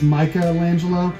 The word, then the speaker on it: Michelangelo: What's really interesting is that TMNT, they used to spell it Michael Angelo, and now it's Michelangelo.